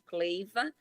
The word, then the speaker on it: Cleiva: Cleiva, como se escreve, como se lê mesmo, Cleiva.